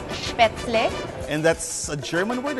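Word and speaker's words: Spätzle: Actually, it's pronounced as Spatzle.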